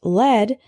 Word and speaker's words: lead: The word lead can be pronounced lead or led.